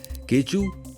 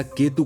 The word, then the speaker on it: K2: यहां तक कि बाल्टी लोग इस केतु का उच्चारण केचू या केतु करते हैं।